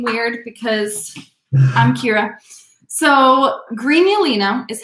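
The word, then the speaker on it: Grignolino: because i'm kira so greenulina is how this wine is pronounced the first g is hard the second g is totally silent so it's not greg nolino it is green yoleno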